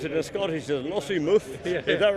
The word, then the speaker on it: Lossiemouth: I've been informed how to pronounce it in Scottish as Lossiemouth.